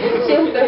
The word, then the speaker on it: Qiantou: Qiantou Lake. I just learned how to pronounce it yesterday.